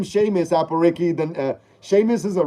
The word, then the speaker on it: Sheamus: Apple says, his name is Seamus, but it's spelled different. It's spelled, okay, Seamus. I get you now. Like the wrestler, like Sheamus, the Irish wrestler from WWE or whatever, Raw or whatever it's called again. Sheamus, the wrestler.